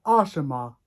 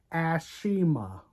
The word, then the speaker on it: Ashima: long version of Ash Ashima not asima Ashima God I hat God